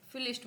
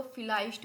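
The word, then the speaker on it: vielleicht: बोलोगे फिलि ठीक है फिलिट बोलो किस केस में जस्ट अ मोमेंट गाइस ई आई है तो आई बोलेंगे देखिए अभी जो है मैं भी भूल जाती हूं चीजों को तो ई आई है तो फिलाइट बोलेंगे इस जैसे मैंने यहां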